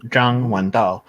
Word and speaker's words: Zhang Wendao: It's pronounced in Mandarin Zhang Wendao.